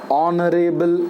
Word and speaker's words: honorable: a consonant letter but that consonant is silent here it is not pronounced so it is pronounced as honorable man aw it begins